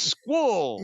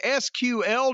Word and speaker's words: SQL: and SQL is Squall. They actually say, you say the letters, you don't try to pronounce it. Well, you can learn Python, HTML/CSS, SQL, JavaScript, and more.